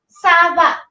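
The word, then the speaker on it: ça va: But when we are using this CD, we have to pronounce this C with CD and it is S.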